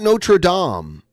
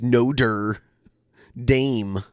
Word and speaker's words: Notre Dame: It's not Notre Dame. It's Notre Dame for some reason. It's spelled the same.